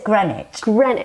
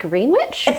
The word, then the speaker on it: Greenwich: then we have now I always struggle to pronounce is this Greenwich I'm like green witch so you know we've